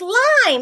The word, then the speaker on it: lime: look it mm oh it's not linen it's lime how do we make that I say its name that's super magic silent E lime L I am don't forget your super e now we have a